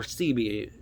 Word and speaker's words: Sebi: it is look up dr sebby s-e-b-i dr sebi or cb people pronounce it depends on where you're from i guess i'm pretty